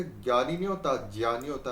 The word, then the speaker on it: ज्ञ: ही पढ़ा देते हैं कि हिंदी में इसको बोलते हैं ज। इसका उच्चारण ज्ञ होता है ज्ञ। देखिए उच्चारण तो गे होता है लेकिन इसलिए इसका विस्तार ग य और अ की तरह होता है।